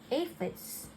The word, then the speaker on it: aphids: It was a pretty sad day when the aphids, pronounced as aphids, okay, arrived.